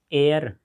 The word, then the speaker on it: heir: Lion का lioness, एयर, lion मतलब शेर, लायनेस मतलब शेरनी। एयर, HEIR, यहाँ पर H साइलेंट है।